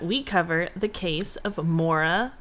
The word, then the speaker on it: Maura: Okay, so Raina suggested that we cover the case of Mora Murray. Oh, I've never heard of this. Me neither. Mora? Yes. So Mora like my but Mora?